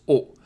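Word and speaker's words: お: So I know the second one is a bit complicated, but it's only two. O. How to pronounce O?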